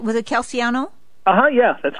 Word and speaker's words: Calciano: And did I pronounce the name right? Was it Calciano?